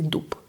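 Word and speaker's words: дуб: We don't say d. We say dup dup.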